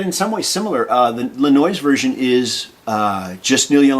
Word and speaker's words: Lanois: 2010, produced by, if I say his name right, Daniel Lanois. Lanois.